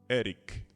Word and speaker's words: Erich: Voegelin se escreve V-O-E-G-E-L-I-N. Voegelin, tá? Erich, E-R-I-C.